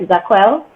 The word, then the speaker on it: Jaquell: That is how it's pronounced, correct? Jaquell?